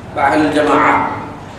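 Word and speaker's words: أهل الجماعة: তিন নম্বর আহলুল জামাআ, আহলুল জামাআ শেষে আপনার তায়ে মুক্ত আহল উচ্চারণে অকস্ম হয় আহলুল জামাআ, তাদেরকে আল জামাআ বলা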